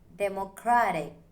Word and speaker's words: democratic: Democratic. The stress falls on cra.